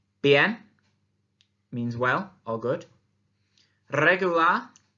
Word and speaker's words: regular: Regular, regular, remember to roll your R, means so-so or I'm okay.